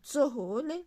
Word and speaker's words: tsohole: TS se prononce ts. Par exemple, tsohole, les grains de riz.